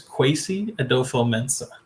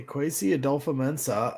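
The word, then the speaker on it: Kwesi Adofo-Mensah: name again uh there jordan his name is kwesi adofo mensa okay crazy adolfa mensah and and the thing that i was also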